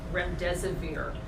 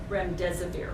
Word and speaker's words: remdesivir: UCI Medical Center, as you know, is the only hospital in Southern California conducting a clinical trial on remdesivir.